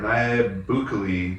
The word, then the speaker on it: Nayib Bukele: This guy, Nayib Bukele or Nayib Bukele, if I'm going to do a really anglicized pronunciation, felt like his country